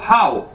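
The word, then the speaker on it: 好: तो इसके बाद दोस्तों हमारे पास ये नेक्स्ट वर्ड है, ये है HAO, हाउ। इसको कैसे बोलना है आपने? हाउ। जैसे इंग्लिश का वर्ड है हाउ, कैसे, तो इस तरह ही आपने इसको बोलना है हाउ।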